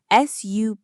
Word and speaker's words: support: The stress is on the second syllable, support. So what happens to the U in the first syllable? It's not a clear support. It becomes A schwa. It becomes support. Support. I need technical support. Can you hear it? Support. That first sound is just sa.